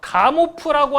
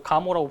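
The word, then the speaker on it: Gamow: 한쪽은 가모프라고 하는 아저씨가 주장하는 거. 근데 가모프 같은 경우는 이제 뭐 풀을 좀 묵음해가지고 가모라고 부르기도 합니다.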